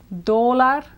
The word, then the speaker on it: dólar: And then the English word for dollar, or the Spanish word for dollar, is like the English word dollar, stressed on the first syllable. Dólar for one, and dólares for more than one.